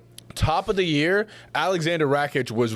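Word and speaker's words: Rakić: Well, it's Alexander Rakic. There's no H, but okay, that's the silent letter. It's an invisible letter.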